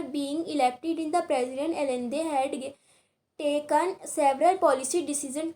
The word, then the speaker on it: Allende: तो देखिए next paragraph में, these are some extracts from the last speech of Salvador Allende, pronounced Allende.